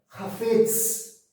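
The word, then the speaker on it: חפץ: Hafetz, essa é a pronúncia.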